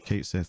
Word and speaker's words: Cait Sith: interesting that in Advent Children they did give Kate Sith the Scottish accent right they do acknowledge it